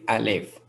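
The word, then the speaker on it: ألف: a straight line going upwards we call it alif second letter here is ba ba the third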